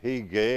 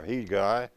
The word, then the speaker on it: Hegai: by the name of Hegai or Hegai or Hegi, depending on which way you want to pronounce it in the process there.